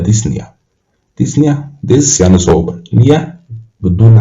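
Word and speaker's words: dyspnea: ديسنيا اللي هو صعوبة التنفس، يبقى ديسنيا البي ما بتتنطقش، يبقى ديسنيا.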